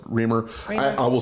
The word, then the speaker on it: Riemer: Remr I I think it's I think it's I've heard it mostly pronounced Reamer.